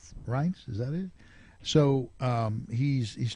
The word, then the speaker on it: Reince: And Trump is also, and I never know how to, I don't know how to pronounce Priebus's name. Reince? Right. Reince, is that it?